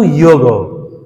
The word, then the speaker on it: যোগ: অর্থ কি যুক্ত হওয়া সংস্কৃত উচ্চারণটা কিন্তু ইয়োগ আর বাংলায় আমরা যোগ বলতে পারি যোগ শব্দের অর্থ কি যুক্ত হওয়া কার সঙ্গে যুক্ত হওয়া?